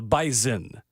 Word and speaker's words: Bison: bison is usable but then North Dakota state is the bisen and that's with a z ah even though it's spelled b s o n so classic octopi situation